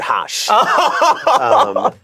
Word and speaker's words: Haas: No, so of course this is Haas. So my last name means rabbit in German. But in Bangla, when you pronounce it Haas, it means duck.